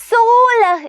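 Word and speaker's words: सोलह: 16 ആണ് 16 നമ്മൾ സോലഹ് എന്നാണ് പറയുന്നത് സ ഇട്ടു കൊടുത്തു എന്നിട്ട് എന്ത് ചെയ്തു ആ ഓ എന്ന് പറയുന്ന നമ്മുടെ ചിഹ്നം ഇട്ടു കൊടുത്തു ല ഇട്ടു കൊടുത്തു ഹ ഇട്ടു കൊടുത്തു അല്ലേ സോലഹ് എന്താ വായിക്കുന്നത്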